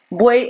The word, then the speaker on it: buey: Buey es una palabra, los triptongos tampoco nunca se separan, entonces al tratar de separar buey se van a mantener todos juntos, entonces buey es un monosílabo.